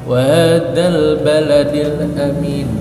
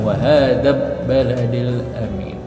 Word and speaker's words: wahadzal baladil amin: Jadi cara membacanya wahadzal baladil amin, bukan wahadzab baladil amin.